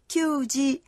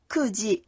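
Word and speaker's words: 九時: 9 giờ không đọc là kyuji mà đọc là kuji.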